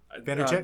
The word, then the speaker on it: Vaynerchuk: How do you pronounce his last name? Vaynerchuk? Vaynerchuk, yeah.